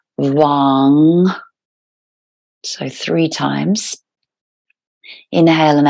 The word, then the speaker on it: vam: come to our sacral chakra of vam v-a-m but again pronounced v-a and then n g so Wong so three times inhale